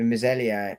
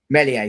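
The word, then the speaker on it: Meslier: But uh Arsenal being linked with Lee's goalkeeper, Misellier. Um I've butchered his pronunciation because Melier, thank you.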